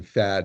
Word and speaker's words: Thad: By the way, I remember this situation well, and Thad Allen did pronounce his name Thad, not Tad, which I always found interesting, but that's how he spelled it, so that's good.